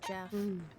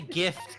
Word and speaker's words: GIF: okay it's a hip I say gift uh with the hard G because gift gift you don't say GIF you say gift Kia would he would